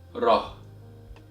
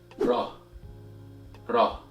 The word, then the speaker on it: ر: Alright, so the 10th letter of Arabic is pronounced as Rah. Repeat after me. Rah. And the sound of the letter Ra is equivalent to the letter R in English, as in the word rain, and is very close